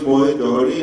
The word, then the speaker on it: Mohit Jauhari: concerned, my name is Mohit, Jauhari, and I hear various kinds of pronunciations and connotations for my name, but the spelling sounds a bit different. I am known as Mohit Jauhari, and I head the